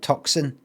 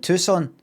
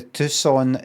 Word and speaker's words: Tucson: Tucon it's not it's not Toxin Tucson. Is it Tucson?